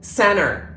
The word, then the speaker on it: center: pronounce t at all when T is followed by an N it is usually dropped we do not pronounce it for example Center not Center interview not interview and internet not internet I'm in a bit